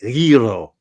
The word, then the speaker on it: gyro: Oh, one of my favorite sandwiches is the gyro or gyro or gyro, however you want to pronounce it. Everybody pronounces it differently, but I believe the Greeks pronounce it gyro.